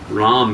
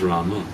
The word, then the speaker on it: Rama: Uh so Ram is also complete but it may not be as complete as Rama.